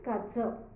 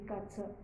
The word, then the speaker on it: Katze: d Hound then comes cat C cat is kza k a t z e kza then alligator is called as aligator though the